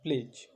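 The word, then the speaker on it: pledge: যেমন PLEDG, প্লেজ। প্লেজ আমরা স্কুলে বা কলেজে যখনই গেছি তখনই আমাদেরকে প্লেজ বলতে হয়েছে প্রেয়ার লাইনে দাঁড়িয়ে। তাহলে প্লেজ কথাটাতে যে ডিটা রয়েছে সেটা সাইলেন্ট, কারণ সেটা জি এর আগে আছে, প্লেজ, PLEDG, প্লেজ।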